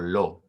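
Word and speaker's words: לא: one you just add the particle lo which just means not um it kind of sounds like the word no no that's that's basically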